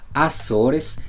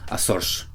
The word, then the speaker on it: Açores: Mientras que en Brasil dirían Azores, en Portugal, específicamente en las Islas Azores, podrían pronunciarlo como Açores.